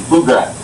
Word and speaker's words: Pflugradt: Flew like your shit, Grat, like G-R-A-T, Pflugradt. What again? Sorry. How you say? It's flew like your shit, okay, and then Grat, like G-R-A-T. Gotcha, Pflugradt.